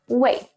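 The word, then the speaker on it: 喂: is pronounced as the second raising tone wei as as if asking new questions but some people especially men like to say it with the fourth falling tone wait to make it sound more polite i recommend putting knee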